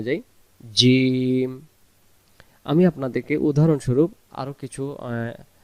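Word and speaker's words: ج: জিম অক্ষরে জিহ্বার মাঝখান থেকে শক্ত করে পড়তে হয়। এবার আমরা উচ্চারণে যাই। জিম।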